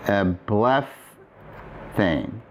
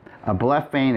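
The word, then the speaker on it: ἐβλέφθην: And the form would be-- ἐβλεφθην And that's a lot easier to say than ἐβλεπ--θην -- ἐβλεφθην is simply easier. It's a softening of the pronunciation.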